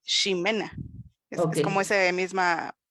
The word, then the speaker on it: Ximena: Jimena, cuando se escribe con X, igual se pronuncia Ximena.